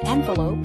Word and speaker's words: envelope: is to surround something completely the second word pronounced envelope is a noun it means a flat usually